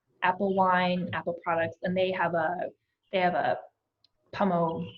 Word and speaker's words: pommeau: and they have a pommeau, like pommeau that they call it an apple dessert wine. So I didn't know how to pronounce it. It's pommeau? Yeah. Pommeau.